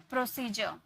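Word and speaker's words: procedure: तो इसे जॉ में प्रोनाउंस करते हैं, जैसे प्रोसीजर, यहाँ पे आपको दिख रहा होगा डी के बाद यू आ रही है, तो इसे हम क्या में प्रोनाउंस किए, जॉ में, है ना, जॉ, प्रोसीजर।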